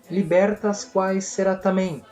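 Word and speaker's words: libertas quae sera tamen: praticada pelo governo o lema dessa conspiração seria libertas quae sera tamém assim que pronuncia exatamente é uma frase em latim que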